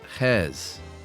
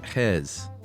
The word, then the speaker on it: Gijs: It is pronounced, spelled Gijs. Wow. And it said Hes.